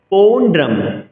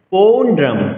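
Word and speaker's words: পৌণ্ড্রং: পৌণ্ড্রম পৌণ্ড্রম পৌ দীর্ঘস্বর।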